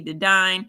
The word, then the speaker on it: Dedine: My name is Dedine, rhymes with divine.